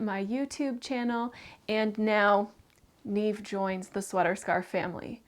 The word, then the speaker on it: Niamh: So, I decided on the name Neve because of the cables being very Irish or Celtic looking.